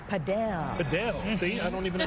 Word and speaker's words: Padel: Our Gabriella Primus is live at a brand new facility where everyone is hooked on this new trend called paddleball. Padel.